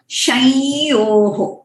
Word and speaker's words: शंयोः: Okay, that अनुनासिक। हम शं बोलने से वो नोस में जो है वो जो प्रेशर आता है उसमें से हमें पता चलता है कि वो प्रोनाउंसिएशन सही है कि गलत है।